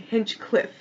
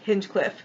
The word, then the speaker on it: Hinchcliffe: Now we have taking over for him is Philip Hinchcliffe. Oh god, I think I pronounced it wrong. I think Hinchcliffe. Making sure I got that right. Yep. Go his Hinchcliffe.